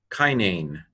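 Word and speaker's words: καινήν: Kappa alpha iota nu eta nu, kinane, nu.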